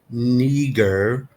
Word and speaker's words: Niger: Right there, 3526, which is Niger, pronounced Niger, sounds familiar, of Latin origin.